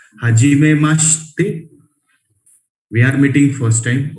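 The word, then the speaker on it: はじめまして: हाजिमे मास्ते, this she and they will pronounce combined. Hajime maste, we are meeting first time.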